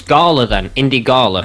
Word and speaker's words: Gala: indie gala. It's L. It's L. It's L. No, it's I. It's L. Oh, it's Gala then.